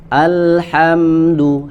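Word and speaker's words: الحمد: Alhamdu, hamzahnya dibaca tipis.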